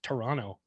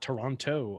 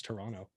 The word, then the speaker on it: Toronto: pronounced the second t people from toronto pronounce it toronto without pronouncing the second t it's not toronto up there it's toronto interesting now t-dot i